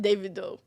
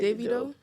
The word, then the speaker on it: Davido: nigel accident right devito david doe it's not david oh how do you say it i don't know but when you said it the first time it is all right david doe i think his name davido yeah devito that's how you know we were